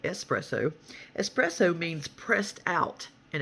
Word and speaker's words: espresso: nervous okay number 25 espresso not expresso but espresso espresso means pressed out